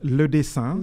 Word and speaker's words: Le Dessein: Well, it's Le Dessein. Le Dessein. Yeah, Le Dessein. It's a rather hard noun to pronounce.